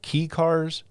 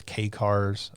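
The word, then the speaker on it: kei car: of I don't know the correct way to pronounce it. Key cars. The little small Japanese cars. Um it's K cars.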